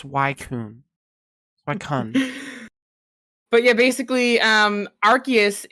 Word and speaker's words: Suicune: do you pronounce suicune anyways um it's obviously pronounced swaycoon but yeah basically um Arceus is essentially poke